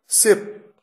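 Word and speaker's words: ship: शिप, शिप, देखिए कितना फर्क है। जहाज को शिप कहते हैं, अगर आपने सिप कह दिया तो अगला व्यक्ति हो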